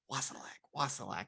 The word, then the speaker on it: Wassilak: Yes, I've honestly been practicing it in my head all day just to make sure, like, Wassilak.